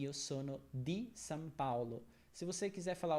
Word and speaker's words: Paulo: pusan é sempre aperto e Paulo se escreve com o mais a gente fala Paulo não é Paolo certo é Paulo moro também né Sempre